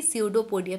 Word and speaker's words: pseudopodia: The pronunciation of this will be pseudopodia. P is silent over there.